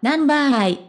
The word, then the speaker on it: Number_i: されました彼らのグループ名はナンバーアと読みますそれぞれが個性的